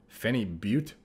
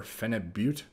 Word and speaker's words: phenibut: and by the way it's I believe it is Fenny Fenny boot or phenibut and I've been pronouncing it wrong for about a decade almost but at the time